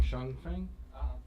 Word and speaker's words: Shung Feng: Up next, we have, and I always pronounce his name wrong, Shung Feng? That's correct.